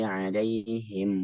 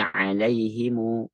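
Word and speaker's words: عليهم: mim jamak tuh nah cara bacanya itu ada dua cara ya ada dua cara yang pertama dengan sukun misal pada kalimat mana ada ya maka ada dua cara cara satu dia bisa Kun ketika wasal ya giriril magdubi alaihim wadin sukun yang kedua dengan Silah Apa itu Silah disambung dengan adanya Mad dua harakat bacanya Jadi alaihimu dua harakat giriril magduaihim wadin ya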